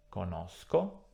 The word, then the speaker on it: conosco: Come sempre, nella prima persona singolare e nella terza persona plurale troveremo un suono duro, sk. Nelle altre persone troveremo il suono debole, sh. Quindi conosco, conosci, conosce, conosciamo, conoscete, conoscono.